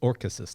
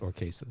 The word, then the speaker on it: Orchesis: It's Orchesis, not Orchesis. Yeah.